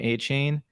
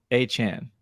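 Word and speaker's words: Achane: or through ESPN that everyone's been pronouncing his name a chain and it's achan it's either a Chan or achan so I thought that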